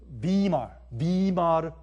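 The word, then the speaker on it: Weimar: 위말 아니면 순수한 독일말 발음으로 위말 리퍼블릭 이란 말 들어보셨어요?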